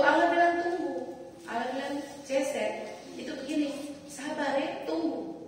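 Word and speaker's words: חֶסֶד: Kata kasih setia itu dipakai kata Ibrani gini, ceset, tulisnya cecet, tapi bacanya ceset.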